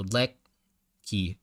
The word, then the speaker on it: Lecky: E sounds like, so the letter E in your name sounds like neck. So Lecky.